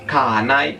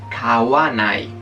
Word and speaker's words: kawanai: O sea que kaimas no es kanai, sino kawanai.